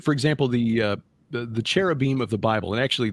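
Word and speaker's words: כרובים: you look at for example the uh the cherubim of the Bible and actually the correct pronunciation is kavim um in Ezekiel chapter 1 Ezekiel chapter 10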